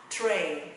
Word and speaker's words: train: Và mình sẽ là train. Tụi nó không đọc là trinh, trăm hay train mọi người nhé. Âm tra và đánh cái lưỡi lên. Train, train, train.